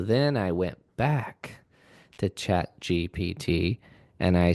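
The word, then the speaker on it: ChatGPT: chat gpt and I say it wrong all the time. Uh, but I won't admit it. I went to chat gtp and I You just did it wrong. You literally just said it wrong.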